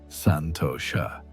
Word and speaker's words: Santosha: But perhaps the most significant change was in her relationship with what the ancient texts call Santosha, pronounced Santosha, which means contentment or satisfaction.